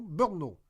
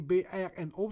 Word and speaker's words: Brno: Pas Bruno, Brno. Ça s'écrit B-R-N-O, ça se prononce Brno.